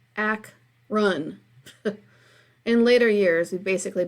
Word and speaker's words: Akron: Akron Ohio I telling everyone calls Akron when it's just pronounced like ack run in later years we've